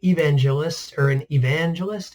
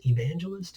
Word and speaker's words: evangelist: Pictured here is an evangelist. Evangelist, is that the right emphasis? I had the emphasis on the wrong syllable there. He's an evangelist.